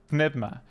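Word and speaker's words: Pneuma: I try to use a pretty strong Greek pronunciation, but everything else, it's like the closest is that I call it Nevma, for instance. Nevma. Which I've been told recently isn't exactly close enough, but it's pretty close.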